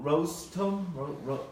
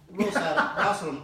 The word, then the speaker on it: Rosatom: Rostom? Rostom? I knew how to pronounce it until you started messing it up. Well, Rosatom.